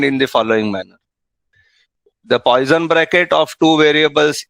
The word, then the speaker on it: Poisson: I believe the name Poisson is pronounced Poisson in French, but we are not French, so you can say Poisson bracket.